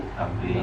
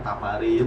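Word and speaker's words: تمرين: Tamrin. Tamrin ya. Jadi kalau Tamrin. ketemu yang begini, ini bacanya tamrin. Jadi jangan tamarin atau tamarin jadi apa aja kayak asal.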